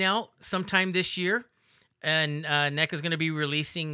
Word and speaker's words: NECA: That's how you pronounce it, right? NECA.